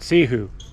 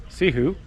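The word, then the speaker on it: Cihou: For me, as a Westerner, we're heading to Mount Sihu. But Yeah, we would say it. Well, depends though. C-I-H-O-U. See how O-U would be like see who, see how.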